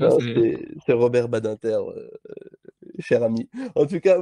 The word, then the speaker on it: Badinter: sais pas quoi je ne peux pas le prononcer autrement que que comme ça tu vois c'est c'est c'est Robert Badinter cher ami en tout cas oui donc la